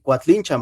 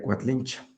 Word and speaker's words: Coatlinchán: Yo siempre sí, pero también se puede pronunciar como cuatlinchan algún en la época moderna pues la mayoría Cuatlinchan, Cuatlinchan, pero el nombre lo correcto sería Quatlinchan.